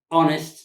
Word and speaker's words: honest: ኣለዉ ኣብ ገለገለ ግን honest is the right pronunciation honorable R 5 hours